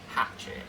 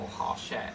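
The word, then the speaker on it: Hachette: I like things pronounced, you know, on time. Like some people will go hatchet or harchette, and the company's called Harchette, but people will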